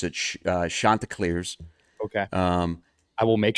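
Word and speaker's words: Chanticleers: Um they remind everybody how to properly pronounce it. Uh Shanta Clar's.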